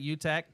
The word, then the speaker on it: Utecht: Utecht?